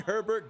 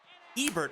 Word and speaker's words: Ebert: Curly, Lane, and Herbert due up. Ebert, I cannot say his name right. I always want to put an extra R in his name.